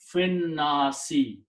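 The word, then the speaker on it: في الناس: And when you pronounce these together, you do not pronounce this alif. And the rule is that when this alif is not pronounced, this hamza and fatha is changed into a small swad. The small swad with this vertical line means hamzatul wasl. Do not pronounce this and combine fi with this word.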